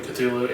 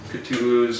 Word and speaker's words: Cthulhu: I've heard it pronounced both ways. Are you like I a think it's French pronounced both person? ways. Oh, really? Yeah. I mean, it's supposed to be an approximation of something that humans cannot physically speak.